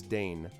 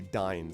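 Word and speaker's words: Dáin: well the thing is i still hear all the time i hear the audio version says still says dane um but you want to say dine so i'll just yeah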